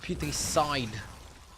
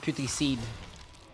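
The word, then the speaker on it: Putricide: It's pronounced puty side, not puty seed.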